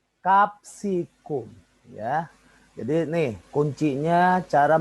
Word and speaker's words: capsicum: Oh ya salah ya Bukan capcisum salah Bukan begitu bacanya capsicum Ya jadi nih kuncinya